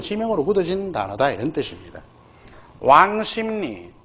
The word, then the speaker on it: 왕십리: 왕심리 WANG 왕 그죠? 와 WANG 심 SIM 심 리 표준 발음 중심이니까 요렇게. 자, 요거 다른 거 구분 좀 해두기 바랍니다.